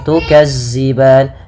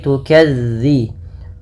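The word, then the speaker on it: تُكَذِّبَانِ: pfal tukziban mafal dalal hati-hati teman-teman dilafalmelafalkan zalnya jangan diganti dengan huruf Zai jangan tukazziban tapi tukadzi bagaimana cara melafalkannya ujung lidah ujung lidah menempel dengan gigi serari atas gigi serari atas sehingga dia pelafalannya terdengar bukan Za bukan Za makaban kemudianfal ban ada madukun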